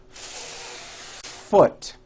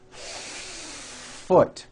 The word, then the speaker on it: foot: you need to do first think of the word is having two beats one to hold the F sound for the first full beat foot like that do it again foot you see how long i am holding that f now i